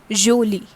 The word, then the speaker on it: jolie: Okay, this is not jolie, this is jolie, jolie, something like j sound comes over here, jolie.